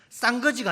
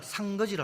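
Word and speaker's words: 상거지: 거지를 상 거지라 합니다 쌍 거지가 아니고 사전에 보니까 상 거지라 합니다 거지 발음을 잘해야 됩니다 너무 비참한 거지를 거지라고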